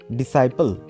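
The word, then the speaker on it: disciple: next word কি আছে ডিসাইপল ডি আই এস সি আই পি এল ই এখানেও আমাদের সি টা সাইলেন্ট থাকবে কি উচ্চারণ হবে ডিসাইপল ডিসাইপল কথাটার অর্থ হচ্ছে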